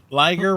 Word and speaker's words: liger: No, there is liger rhymes with tigers in the chat.